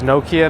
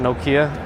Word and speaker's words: Nokia: It's Nokia, not Nokia.